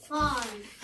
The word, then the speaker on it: farm: ال A لما يجي وراها R ال A دي يا صحابي بتقول R. يعني الحرفين دول بيتنطقوا زي بعض كده يا جنى انتي ويحيى. R. تعالوا كده نقرأ الكلمة دي. farm. هل ينفع اقول فارم ولا اقول فا؟ ال A اول ما تيجي ورا ال R بتخبطها على دماغها فتقول فتقول ايه؟